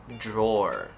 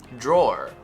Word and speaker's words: drawer: for the day is drawer drawer this one is a very interesting and very weird one um yeah i understand why it's confusing so uh first of all it's a dr combination which gives us a little j